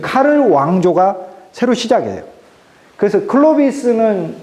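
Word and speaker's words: Karl: 그래서 아까 클로비스를 통해서 496년 이렇게 내려오던 그 왕의 가문이 끝나버리고 샤를은 이제 독일말로 카를이거든요. 이게 불어말로 샤를이고 독일식 발음으로 카를이니까 이 샤를 즉 카를 왕조가 새로 시작해요.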